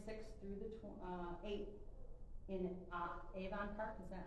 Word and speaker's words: Avon Park: Veterans Expo, January 6th through the 8th in Avon Park. Is that how you say it? Yeah. Avon Park.